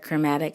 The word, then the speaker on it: chromatic: maybe Google that word chromatic, and I'll spell it for you because some of my students need to know that there is an H in chromatic, and it's CHROMATIC.